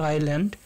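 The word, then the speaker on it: island: তো আইসল্যান্ড এখানে উচ্চারণটা হবে আইল্যান্ড, তো আইল্যান্ডের আগে কোন আর্টিকেল বসে সেটা আমাদের বলতে হবে।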